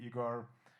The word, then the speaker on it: Ihar: Yeah, so like I said, my name is Ihar, also like friends, and people call me Igor because that's another pronunciation of my name.